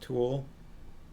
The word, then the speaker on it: tulle: the sharkies also say pronounced tool it's a type of fine netting another shout spurred the